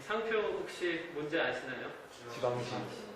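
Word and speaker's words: Givenchy: 지방시. 나 이거 처음 못 읽었거든요. 이 기분치라고 읽어야 되나 생각했는데 저는 이 상표의 옷이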